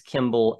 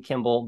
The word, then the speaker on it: Kemble: in Georgia and uh you can correct me if I uh pronounced your name wrong Kimball but we're really glad to have you here today thanks so much Noah you got it you got it dead on you certainly did it's